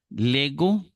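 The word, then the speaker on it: λέγω: sonido que sigue verdad Lego como G de gato leis como ye de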